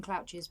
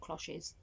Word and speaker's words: cloches: i think they're called i keep calling them clouches but mom said zoe they're called cloches so you know try and say it properly so hopefully i'm saying